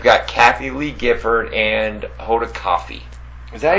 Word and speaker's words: Hoda Kotb: It's Hoda Kotb. K-O-T-B is coffee.